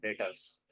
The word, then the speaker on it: debtors: डेप्टर्स, हाँ, debtors, डेप्टर, उसको B silent हो जाए। डेटर्स।